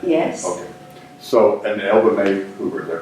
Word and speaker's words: Elva Mai Hoover: So, and Elva May Hoover, is that correct how you pronounce it?